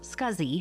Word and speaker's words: SCSI: Small computer system interface, pronounced SCSI hard drives, joined the storage market in 1986.